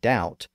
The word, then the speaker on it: doubt: 1500s I mean in words like debt and doubt the bee sticks out like a sore thumb so it's easy to